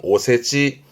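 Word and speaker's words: お節: 요때 발음은 오세지.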